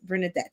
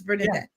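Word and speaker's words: Bernadette: in Geneva last year my name is spelled like th but it's actually pronounced bernardet it's bernardet um okay so there's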